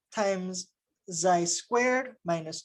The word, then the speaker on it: xi: So for n equals 0, we're going to write them in terms of this variable we're going to call xi, pronounced, I think, like this, xi.